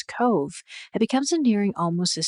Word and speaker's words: Cobh: Spelled like Cobb with an H, yet softly spoken as Cove, it becomes endearing almost as soon as it's learned.